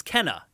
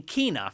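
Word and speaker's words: Kena: which by the way apparently was mispronounced in that yeah that's not that's not how the the dev team pronounces akina apparently we we actually had it right at the beginning it's kenna and then in the trailer they were saying kinah for some reason like sony just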